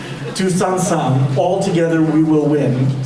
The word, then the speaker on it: Tous Ensemble: So the lyrics are Tous Ensemble, and you don't have, if you don't pronounce the B-L-E at the end, that's fine. Tous Ensemble, Tous Ensemble, all together we will win.